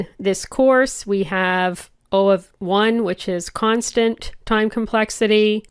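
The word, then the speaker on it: O(1): Now, as I said, you heard me say O of 1 and O of n. That's how you say it. O of, and then the value that's in brackets.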